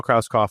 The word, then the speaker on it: Krauskopf: So, Kroskoff, I'm the founder of Gold Multif Family.